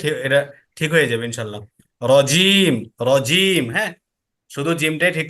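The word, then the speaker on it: رجيم: এই যে জিহ্বার যে মাঝখান, ওই মাঝখানটা একবার উপরে যে তালু আছে, তালুর সাথে লাগালে তিনটা অক্ষর উচ্চারণ হয়।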